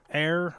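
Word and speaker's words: Éire: Okay, so as a quick response to that, you pronounce it air as in ire, is Irish for Ireland.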